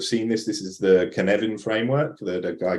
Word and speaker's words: Cynefin: It's a Welsh word, Cynefin, and it's actually Cynefin. So Cynefin, if you were saying it phonetically.